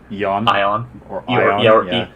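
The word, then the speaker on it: Eoin: the name ian colfer spelled e-o-i-n but i i always pronounced ion yeah that's just what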